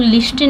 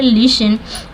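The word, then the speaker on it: listen: word है यह लिसन इसको हम लोग लिस्टन नहीं पढ़ते इसका प्रोनाउंस होता है लिसन यहां प ये टी साइलेंट है ठीक है एस के बाद अगर टी हो तोव साइलेंट अक्सर साइलेंट होता है इसलिए इसको पढ़ते हैं लिसन देखिए ये रूल्स अगर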